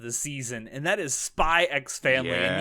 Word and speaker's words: Spy x Family: season and that is spy x family and yes i'm going to pronounce the x all